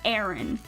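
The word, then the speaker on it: Arin: It's spelled A-R-I-N. Aaron.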